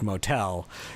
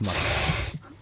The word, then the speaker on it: Motel: Taylor to people who have no idea what I'm talking about like starting with the name is not pronounced Motel it's pronounced mo again I can't believe